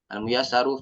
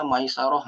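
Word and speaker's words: Al-Muyassaru: Nah kita bisa baca almuyasaru Fi ilmin nahwi ini kalau orang awam gak kan bisa baca nih mungkin dia bacanya Maisaroh Maisaroh ini bacanya almuyasaru F ilmin nahwi gitu Pak Jadi eh itu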